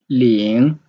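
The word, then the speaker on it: 零: word so here is zero lean the second tone lean also in character laying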